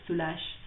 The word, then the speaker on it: Soulages: Yes, in English it sounds soul ages, um but it's pronunciation is French, it's Soulages.